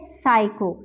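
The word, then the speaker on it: psycho: हम देखेंगे शब्द है साइको तो यहां पे भी स्टीम हमारे पास साइलेंट है नेक्स्ट शब्द हम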